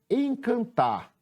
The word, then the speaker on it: encantar: Foi o tar.